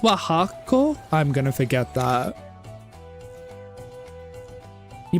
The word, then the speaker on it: Oaxaca: Oh, it's pronounced Oaxaca?